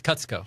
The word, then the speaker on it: Kutsko: let's go how do you say it it's cuts go let's go I did say it right so